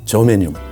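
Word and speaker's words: germanium: 인정을 안 하고 있지만 저메뉴 독일식 발음을 하면 게르마늄이라고 하는 성분도 한국산 인삼이나 영지버섯이나 마늘에는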